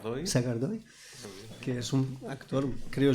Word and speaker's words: Sagardoy: En un caso, no sé cómo se pronunciará tu nombre bien, Eneko Sagardai, ¿así? Sagardoy, que es un actor,